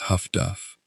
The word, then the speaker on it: HF/DF: The direction finding network known as highfrequency direction finding or HF/DF, pronounced by operators as Huffduff.